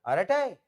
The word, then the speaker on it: Arattai: on it, Maybe but- he will be sad that you're pronouncing it wrong. No, it is right. It is absolutely right.